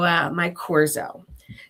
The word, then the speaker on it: Myqorzo: I actually had to ask them to pronounce it because it's spelled Myqorzo. Oh, interesting. So we're a little cute there, right? Yep. So Mycorrhiza.